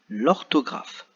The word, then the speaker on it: orthographe: mathématiques tôt comme l'orthographe vous voyez les deux derniers mots ici le hb n'est pas au début du mot mais il y compris entre 2 lettres et comme la lettre qui est avant ce n'est pas le sait donc on ne l'entend pas voilà même s'il au